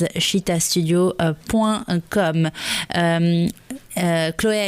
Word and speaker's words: Chītā: internet son site internet c'est cheetah studio points comme cheetah ça s'écrit ch itea studio points comme vous